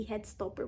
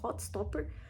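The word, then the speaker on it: Heartstopper: que eu já falei várias vezes errado aqui head stopper mas eu acho que é Hot stopper a pronúncia correta então atualizei um pouquinho deste livro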